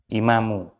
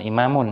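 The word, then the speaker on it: إمامُ: bukan imam hah imam jadi bacanya itu imamu Jangan imamun ya imamual masjidi mudfudof ilai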